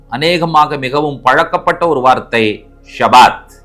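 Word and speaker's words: שבת: மிகவும் பழக்கப்பட்ட ஒரு வார்த்தை ஷபாத் ஷபாத் மீன்ஸ் ரெஸ்ட் ஷபாத் என்ற எபிரேய வார்த்தைுடைய எழுத்துக்களை உச்சரிக்கிறேன் ஷீன் காமட்ஸ் பேத் பெட்டா டவ ஷீன் பேதவ ஷபாத் இஸ்ரேலுடைய ஒரு உளவு பிரிவிருக்கு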